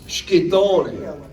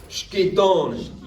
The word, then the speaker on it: Schittone: So, Schittone, Schito, like shh, like that first.